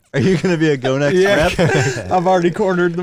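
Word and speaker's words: Gonex: Pronouncing it correctly. God, yeah. Go We're not Next. sure. It's Go Next.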